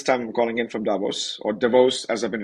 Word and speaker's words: Davos: I'm calling in from Davos or DeVos as I've been reminded the real pronunciation is divos not Davos so glad to be